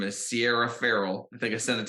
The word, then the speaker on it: Ferrell: stuff so I believe she pronounces it Sierra Farrell versus Sierra Barrel like Will Ferrell you get the idea